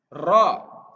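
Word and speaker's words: ر: mengucapkan lafadz rok jadi sebisa mungkin harus jelas Rock dan harus bisa untuk yang cadel rok-rok jadi lidahnya di langit-langit diucapkan sejelas mungkin er rok Sayanya udah ada huruf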